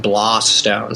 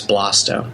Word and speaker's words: Blaustone: is BLAUS, BLAUS, and our last name is actually pronounced Blaustone. So like Blaustone rather than Blaustone, so it's Blaustone.